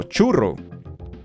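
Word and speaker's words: churro: you can't lose meaning now churu it's uh it's it has the stress on the first syllable right chu CH Ro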